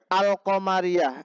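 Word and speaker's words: القمرية: Nah, al qamariyah idhar, berarti alnya dibaca.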